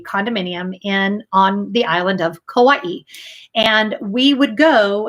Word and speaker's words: Kauai: on the island of Kauai, and we would go. That's how you say it, Kauai.